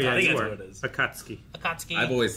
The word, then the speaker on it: Akatsuki: Akatsuki.